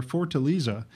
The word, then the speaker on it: Fortaleza: Fortaleza, is how you pronounce the name, of the city down in Brazil.